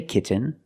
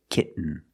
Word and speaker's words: kitten: You can say kitten, but most people say kitten. You do the stop T, kit. You don't release, and then you fall to an N, kitten.